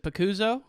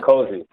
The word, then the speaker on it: Picozzi: Is it Picuzzo? Is that how you pronounce it? Picozzi. Yeah, Mike Picozzi.